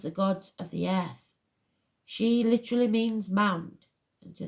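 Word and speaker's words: Sídhe: The Sade, pronounced she, means people of the fairy hills.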